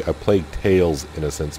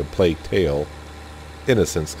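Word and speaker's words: A Plague Tale: Innocence: tails I always say a plate tails innocence but it's actually a plate tale innocence and basically it's a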